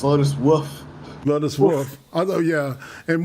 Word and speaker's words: Lotus Wolf: So I think you pronounced it wrong. It's Lotus Wolf.